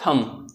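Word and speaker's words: thumb: तो यहाँ पर आप देख सकते हैं यहाँ पर बी साइलेंट है, जैसे कि यहाँ पर ये थंब है, ठीक है, बट इसको बोलेंगे क्या, थंब, ठीक है।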